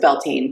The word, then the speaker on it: Bealtaine: Well, I pronounce it Bealtaine.